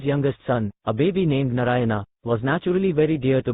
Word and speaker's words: Narayana: Narayana, pronounced Narayan, is a name for God, and thus unintentionally the old man was always chanting the holy name of the Lord.